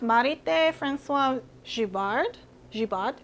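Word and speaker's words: Marithé François Girbaud: I think it's pronounced Marit Francois Jivard Jiad. My French is not that great, but it's pretty popular in Korea.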